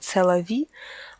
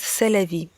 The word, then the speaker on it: c'est la vie: Только американцы ее немного произносят по-своему, они говорят «c'est la vie», а во французском она звучит «c'est la vie».